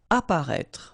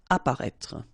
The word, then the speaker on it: apparaître: Apparaître. Okay, so exactly the same situation here with this circonflex. You don't pronounce it. Remember to write it, but you don't pronounce it. Apparaître.